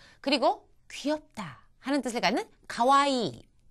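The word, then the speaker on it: かわいい: 그리고 귀엽다 하는 뜻을 갖는 가와이. 이 이는 이가 두 개가 있으니까 길게 발음하셔야 됩니다.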